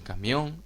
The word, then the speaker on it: camión: criterio será un diptongo en camión la o es la tónica Esta es atona mientras esta sea atona es un diptongo la presencia ausencia de